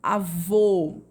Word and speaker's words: avô: E temos o acento circunflexo, que ele indica a sílaba tônica, porém com som fechado. Avô.